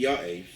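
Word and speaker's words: יעף: And he couldn't remember, was it Ya'ef or Ayef? It happens to be Ya'ef, and it makes very little difference, perhaps, but that's what troubled him.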